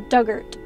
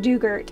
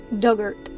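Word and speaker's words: Dugort: on the island pronunciation Doug like the past tense of dig ort rhymes with hurt so duggert yeah okay so not dugert it's duggert the big house this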